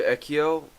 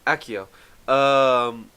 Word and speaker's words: Akio: In relation to Ekio, did I just say my own character's name wrong? Akio.